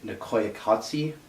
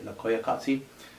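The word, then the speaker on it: Koyaanisqatsi: my favorite movies is nicaya kotse I believe is how you say no clayey kasi it's a it's a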